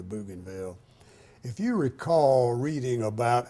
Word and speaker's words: Bougainville: coast of Bougainville Island, which we pronounced Bougainville at that time. It's probably Bougainville.